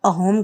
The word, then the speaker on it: असम: यहाँ के जो निवासी हैं इसका उच्चारण अहोम ही करते हैं।